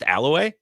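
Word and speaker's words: Allouez: Uh, she used to live in Aloay. Aloay outside of Green Bay. I thought it was Aloe. Is it It's pronounced Aloay.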